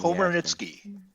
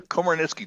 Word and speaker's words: Komarnyckyj: Komarnyckyj. Dig it. Say it again. Komarnyckyj.